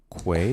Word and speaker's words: Quay: It's pronounced Quay. Way. Mm-hmm. Say it with me now. With a Q? Q. Quay. Quay. Does Mothman have a will to Not live? Key. I don't know who says key.